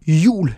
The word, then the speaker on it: jul: Next up is J. This is pronounced like the English Y. As an example, jul means Christmas.